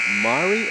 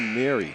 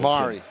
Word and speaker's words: Mari: Is it Mari or Mary Littleton? Mari. It is Mari.